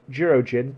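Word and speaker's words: Jurōjin: I know you're very tired, but Jirojin, please forgive me if I'm pronouncing that incorrectly.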